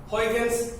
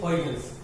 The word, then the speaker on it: Huygens: This Uy in Dutch is pronounced as oil, okay, and hence the full name Huygens principle, okay, Huygens principle, okay, and the scientist name is Huygens, Christian Huygens, it's his full name, a Dutchman, okay.